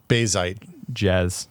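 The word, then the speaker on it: Bazzite: Somebody told me it rhymes with jazz. Bazite. No. It's Bazite.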